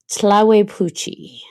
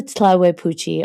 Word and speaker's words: Tlahuelpuchi: Tlahuepuchi. So the Tlahuepuchi, and I'm going to spell it for you because I know you want to look it up.